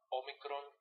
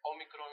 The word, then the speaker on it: Omicron: basic and important ordered Omicron and Omega are pronounced exactly the same in Reverse all so